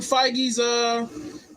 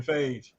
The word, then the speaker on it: Feige: So no, I didn't know how to pronounce it when I first saw his name, so I was calling him Kevin Phage. Right. All right. In the Marvel Studios, Kevin Feige.